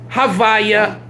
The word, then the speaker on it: havaya: in prayer and davening however is the tetragrammaton's colloquial pronunciation is havaya the concept of creative